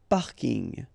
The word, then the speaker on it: parking: So I know it's coming from English, but still you should pronounce it the French way.